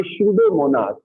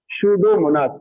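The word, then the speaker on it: Pseudomonas: Denitrification के लिए एक तो थायोबैसिलस और एक और बैक्टीरिया है जिसका नाम है शूडोमोनास। क्या नाम है, शूडोमोनास। पी साइलेंट है यहाँ पर।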